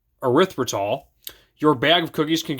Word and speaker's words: erythritol: Erythritol. Erythritol.